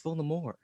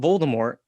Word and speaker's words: Voldemort: was like, actually, guys, you've been pronouncing Voldemort name wrong. It's actually a silent T. It's Voldemort. And everyone's like, what are you talking about?